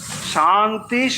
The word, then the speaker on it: শান্তি: কিন্তু যখন আমরা শান্তি উচ্চারণ করব তাহলে মনে রাখবো এটা হচ্ছে তালব্যস শান্তি শান্তি শান্তি। এটা শান্তি নয় বা শান্তি এটাও নয়।